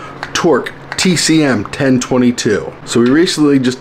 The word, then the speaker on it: Torq: It is the Torq. Yes, I'm saying it right this time. Not Toro. It's a Q. Torq TCM-1022.